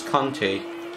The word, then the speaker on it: Kante: ladybug as ninola and max kante k-a-n-t-e that's how we pronounce the name in french okay in season